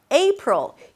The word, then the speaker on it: April: April. The A is pronounced as A as in day.